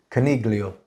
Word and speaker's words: Coniglio: first of all Coniglio is how you say his name Coniglio it's actually the GE silent in Italian Coniglio it's Cornelio it's actually how you say rabbit in Italian how is the G